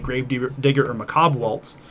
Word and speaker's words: Macabre Waltz: like grave digger or macabre waltz which is how it's pronounced by the way in case anyone's struggling with the pronunciation of that card and you get there